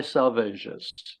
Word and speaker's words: Salvages: we go the dry salvages the dry salvages presumably Salvage is a small group of rocks with a beacon off the Northeast Coast of capan Massachusetts salvas is pronounced to rise rhyme with assuages a groaner uh is